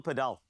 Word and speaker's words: Padel: So it's paddle. Yes? Yeah. In 1999, the Spanish government changed it to padel for their own pronunciation. Gracias. This makes sense. That's why I support Real Madrid. I'm a Spanish football fan. Padel. It's paddle, just remember.